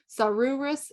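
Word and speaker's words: Saururus: a few other tips if you have two U's together the first U is long and the second is short this is one of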